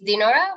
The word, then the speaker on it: Dinorath: happened on a lot so it's dinora but everyone's called